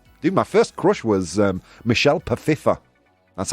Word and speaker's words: Michelle Pfeiffer: My first crush was Michelle Pfeiffer. That's how it's pronounced.